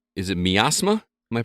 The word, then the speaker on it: Miasma: Rel, you've been playing a game called, is it Miasma? Am I pronouncing that correctly? I believe it's miasma. Miasma? Like, miasma makes it sound like, okay. Like I'm suffering from miasma.